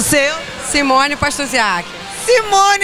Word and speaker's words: Pastusiak: seu nome eu sou Jaqueline o seu Simone pastorziar Simone é minha xará eu sou Simone Boechat